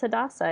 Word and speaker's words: Hadassah: At least now I know that the way I pronounce Hadassah is correct.